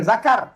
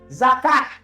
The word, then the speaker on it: zakat: dilakukan, puasa telah dilakukan, zakat, zakat bukan zakar, zakat. Kemarin saya berada di Jakarta dan diminta untuk berfoto , lalu tertulis 'Duta Besar Zakat Republik Indonesia'. Alhamdulillah sejak Ustaz Somad menayangkan tentang zakat ini, banyak orang yang membayar zakat, Ustaz.